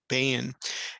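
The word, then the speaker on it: בין: how it functions here when you hear the pronunciation of bain has a set a vowel underneath it combines with the yud and so it gives you the one syllable of bane and here the definition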